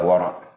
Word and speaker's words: wara': Ejaan Rumi, perkataannya adalah wara' dengan ain. Ada koma di atas, wara'. Nah, bacaan yang betul begitu.